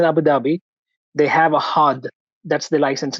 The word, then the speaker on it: HAAD: So when you're talking about these exams, like you have mentioned HAAD, that is hard. Do we pronounce it as hard?